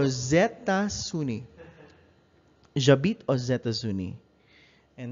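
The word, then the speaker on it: États-Unis: this is i'm sorry that's a wrong pronunciation this is what happens whenever the next sound after the oh the plural o with an x is is consonant you pronounce the x as an s sound and you connect it with a with a i'm sorry this is a consonant a vowel sound or zetta sunni jabit or zetta zuni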